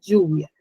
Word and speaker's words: lluvia: Coche, si ven también, recae la mayor fuerza de voz en la penúltima sílaba y de igual manera lluvia.